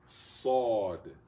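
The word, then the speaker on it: صاد: there's also not a sawd. Sawd. Sod. Sod. Though you sort of take your tongue off to the side a little bit. You go sod. Sod. It's not seen. Seen is from up here.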